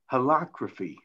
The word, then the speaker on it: holacracy: They have a system called holacracy. I hope I'm pronouncing it well. H-O-L-A, it's not democracy, it's holacracy or something like that.